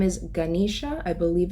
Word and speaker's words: Ganesha: mind was a Hindu god his name is Ganesha I believe it's pronounced and Ganesha is actually the God he